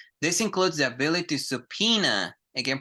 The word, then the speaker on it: subpoena: support their case this includes the ability to subpena again pronunciation subpoena subpena subpena is to call people